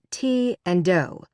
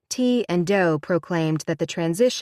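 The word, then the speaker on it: Ti and Do: B and Peep and T and do pronounced T and do like the notes on a scale in Heaven's Gate every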